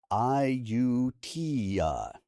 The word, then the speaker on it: Ayutthaya: Ayutthaya.